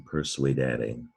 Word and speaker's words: persuadere: You need to know that sometimes, not very often, but sometimes SU can sound like SW, sua. So here it is in persuadere.